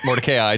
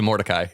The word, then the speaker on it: Mordecai: needs to like canonically I need to change it from motor ki to Mordecai I thought I would